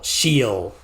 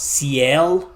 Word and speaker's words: Ciel: Shiel. Yeah, I thought it was for years I thought it was Ciel, but no, it's Shiel. Like shield, but without the D at the end.